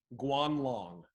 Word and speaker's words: Guanlong: all right number three guanlong guanlong can you spell that sure gu a n l ong kwan long that sounds outrageous enough